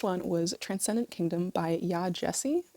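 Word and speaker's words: Yaa Gyasi: was Transcendent Kingdom by yah Jessie that's how I heard other people pronounce her name so yah Jessie this is a literary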